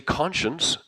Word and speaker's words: conscience: But notice when I say conscience it's writing sh.